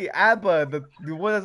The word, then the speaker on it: ABBA: Like a whole dancing crowd from what I was singing, ABBA, pronounced ABBA, is a Swedish band.